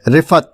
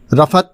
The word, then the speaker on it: رفعت: اور لفظ لیے، اور آج کا لفظ ہے رفعت، جو درست ہے۔ رفعت جو مستعمل ہے وہ صحیح نہیں ہے۔ اس کے معنی ہیں